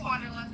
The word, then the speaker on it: Wanderlust: It's Wanderlust, you know. Oh, okay. It's just with an A instead of an O.